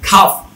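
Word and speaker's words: calf: হাফ, এইচ এ এল এফ, এল এর উচ্চারণ বাদ, এইচ এ এল এফ হাফ। তারপর হচ্ছে কি খাফ, সি এল এফ, খাফ মানে হচ্ছে বাছুর, মেবি গরুর যে বাছুর।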